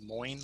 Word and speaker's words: Moin: pronounce my name correctly my first name is moin like coin so coin but with an m moin and my last name